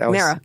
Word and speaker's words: Mara: Mara. Mara, okay. Think Sarah with an M.